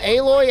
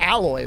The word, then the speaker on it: Aloy: it in anything no aloy as in like the weird Chucky doll child that existed in Horizon zero doll I would pronounce with two L's that's like alloy right it's aloy right aloy and and